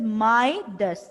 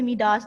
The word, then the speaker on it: Midas: हाउ to pronounce this name? This is माइडस. माइडस, ठीक है? इसको कोई मिडास नहीं कहेगा, इसको कोई और डिफरेंट आप प्रोनाउंस नहीं करेंगे. इसको आप प्रोनाउंस कैसे करेंगे? माइडस.